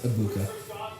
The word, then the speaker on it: Egbuka: Emeka It's like, it's spelled Egbuka, but I think they pronounce it Abuka. You don't really pronounce the G.